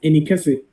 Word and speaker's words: Inasi: is Edward all right so this is pronounced inasi in a that's my language it means big I and then the